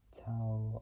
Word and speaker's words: Tao: known for performing the song tow of the T of the machine so T is spelled Tao of the machine that was